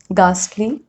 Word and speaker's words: ghastly: Rule number 3, H is often not pronounced when it comes after C, G or R. Like in these examples, choir, chorus, echo, ghastly, aghast, ghoul, or rhinoceros, rhyme, rhythm.